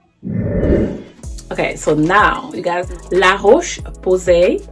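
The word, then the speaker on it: La Roche-Posay: so now you guys la roche posay that's the french accent because i do speak french that's how you say it um it's been so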